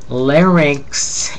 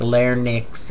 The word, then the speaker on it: larynx: opposite of exhalation breathe in breathe out lingal larynx and fairings are two of the most frequently mispronounced terms in medical parland and they people transpose so it sounds like L Nix and fair Nick I've even heard doctors and